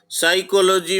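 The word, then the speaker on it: psychology: इसी तरह साइकोलॉजी, साइकोलॉजी में P साइलेंट है।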